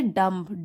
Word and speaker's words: dumb: एक होता है डम्ब, DUMB, डम। ठीक है, बी साइलेंट होता है लास्ट का, DUMB डम, उसका मतलब होता है जो लोग बोल नहीं सकते।